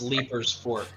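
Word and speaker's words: Leiper's Fork: it I'll play ketchup it is pronounced leaper's Fork deeper okay leapers like leaf but let's do another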